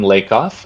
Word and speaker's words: Lakoff: time for me yes it's lake off and all my um